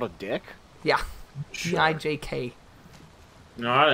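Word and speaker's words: dijk: is derived from dutch because in dutch it's called a dick d i j it's called a dick yeah gi jk no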